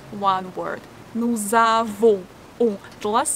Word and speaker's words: nous avons: In nous, we usually don't pronounce S. But if the next word begins with a vowel, we have to read this as like z. Nous avons.